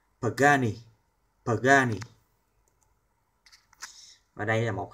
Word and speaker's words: Pagani: chứ phải là super kh đến từ ý pagani pagani Và đây là một hãng chúng ta